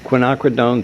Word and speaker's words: quinacridone: corner in in golden from now on out quinacridone is the official pronunciation in this class um okay so that's